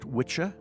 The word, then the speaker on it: wicca: Wicca comes from the Old English word for witch or sorcerer, probably pronounced witcha, W-I-T-C-H-A.